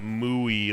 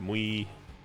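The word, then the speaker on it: muy: that's mooi mooi bueno i know it's not mooi like a cow but mui mui bueno mui they say it like mui like really quickly i'm trying I'm trying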